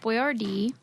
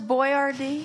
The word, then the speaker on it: Boiardi: I would have pronounced it Boyardee. Yeah. But then when they changed it to be spelled Boyardee. phonetically, we must have changed like where you stress the accent.